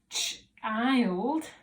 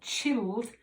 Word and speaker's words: child: And you need to know that child has just got an I in the middle. It's not chilled, I, and it's the letter I.